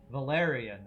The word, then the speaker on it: Valerian: Stress on the second syllable. Valerian. Oh, it's Valerian.